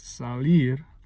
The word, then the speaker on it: salir: Again, salir, it's not salir, it's salir. That ir falls in the first beat, that strong beat.